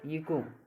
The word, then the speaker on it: echo: ECHO इको, यानी कि ओ से पहले एच आ जाए तो हमेशा क्या होगी, एच साइलेंट होगी।